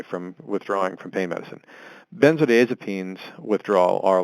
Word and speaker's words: benzodiazepines: substitution from pain medicines to bend the it's pronounced benzodiazepines by saying that yes does it is means